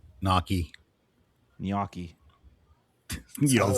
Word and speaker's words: gnocchi: The g and h are both silent. It's not ganaki and it's not nochi. It's niyoki. You said it correctly.